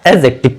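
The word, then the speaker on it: adjective: ध्यान रखना ध्यान रखने वाली बात क्या है, ए और जे, इनके बीच में अगर क्या रखा रहता है? डी, तो ये डी का प्रोनाउंसिएशन नहीं किया जाता है, ध्यान रखना, ये प्रोनाउंसिएट नहीं होता है, यानी इसकी कोई ध्वनि आती ही नहीं, इसीलिए हम इसको क्या पढ़ते हैं? एडजेक्टिव। क्या पढ़ा जाता है?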